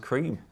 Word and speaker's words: Creme: the a out of that tweets it's actually pronounced cream so some kids somewhere assist made the world's